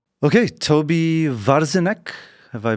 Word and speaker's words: Tobi Warzinek: Okay, Toby Varzine, have I pronounced this correctly?